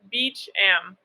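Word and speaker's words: Beauchamp: too beach ham my last name is pronounced beach am no one ever knows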